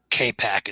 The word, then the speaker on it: Capac: CAPAC. K-Pack is, I believe, that's how it's pronounced. K-Pac. Put a K in there then, not a C.